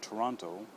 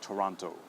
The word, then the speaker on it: Toronto: pronounced okay so uh if you do see the O at the end of the word we do pronounce it okay so for example